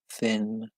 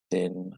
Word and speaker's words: thin: Big, small, fat, thin. The vowel sounds are always quite difficult in English, especially the sound in thin, I think, which is I.